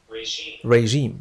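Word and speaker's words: regime: فعل كبير من طهران كلمه ريجيم تنطق بهذا النق الفرنسي رييم لا نقول ريم انما ريم رييم وهو نظام الحكم نظام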